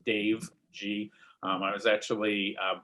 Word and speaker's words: Gee: a funny last name it's pronounced like the letter g so it's dave g um i was actually